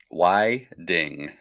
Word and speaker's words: Whiting: it CT pan No it is Tim Whiting Whiting why ding why ding I had to look up the pronunciation in Swedish oh so he's a